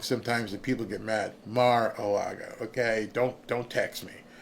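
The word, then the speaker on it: Mar-a-Lago: to the party maybe maybe he overslept in Maraga marago I keep getting yelled at if I say I pronounce things wrong sometimes people get mad Mar aaga okay don't don't text me um so somebody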